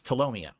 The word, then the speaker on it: Tolomeo: he literally tomomo now I know how to pronounce his name it's tomomo I thought you guys were really good friends